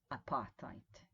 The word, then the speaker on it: apartheid: has mostly written about please think about how you pronounce this word now read the pronunciation apartheid apartheid apartheid apartheid apartheid and there's no d here right apartheid apartheid all right